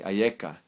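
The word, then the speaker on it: אַיֶּכָּה: in a different form, the same exact letters, but pronounced a little differently. Ayeka.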